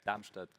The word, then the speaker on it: Darmstadt: Pronounce it correct? Darmstadt.